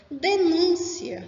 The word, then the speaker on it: denúncia: Denúncia, substantivo, e denuncia, que é verbo. percebam mesmo a forma, denúncia e denuncia, o som aí é diferente.